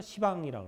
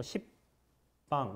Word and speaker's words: 시방: 이게 합쳐서 시방이라고 그러는 거예요. 한자로는 뭐 십방 이렇게 쓰는데 불가에서 읽을 때는 시방이라고 읽죠.